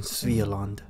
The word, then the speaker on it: Svealand: Just a few weeks later, the first IKEA was built in Svealand. Yes, I learned that's how you pronounce it.